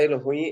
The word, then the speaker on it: Elohim: Tô ouvindo Tô ouvindo Elo ruim então a pronúncia Elo ruim então vai falar Deus no plural é se